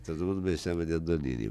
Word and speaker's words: Andognini: Todo mundo me chama de Andonini, mas a origem, que é italiana, o G, depois de uma vogal, se pronuncia como NH. Uhum. Então, por isso, Andonini.